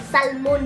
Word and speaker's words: salmon: Salmon, yon. Silent L.